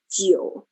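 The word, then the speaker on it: 九: and also interestingly 9 geo in chinese um is also homophone to the word for longevity or length right jio and also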